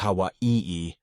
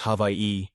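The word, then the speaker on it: Hawaiʻi: The traditional spelling is Hawaii and pronunciation is havi. Basically, the A and the H merge. The W and the A and the I merge. The W makes a V sound since it's surrounded by vowels. And then we have an okina and an I. Hence, havi.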